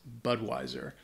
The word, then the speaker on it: Budweiser: all over the world uh but the correct pronunciation is Budweiser or I guess you could shorten it and